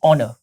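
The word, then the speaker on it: honour: thanks for this ऑनर यह हनर नहीं है कभी भी आपको इसको अगर आप इस वर्ड को प्रोनाउंस करना चाहते हो तो यह ऑनर नहीं है ठीक है इसमें एच साइलेंट है एच क्या है साइलेंट है तो आप हमेशा बोलेंगे ऑनर thanks for this ऑनर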